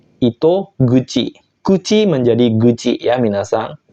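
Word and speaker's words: 糸口: kanji mulut seperti ini dia akan dibaca Ito guci Kuci menjadi guci ya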